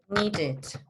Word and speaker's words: needed: Si el último sonido es T o es D, se va a pronunciar el final. Entonces en at vamos a decir added. Need, vamos a decir needed.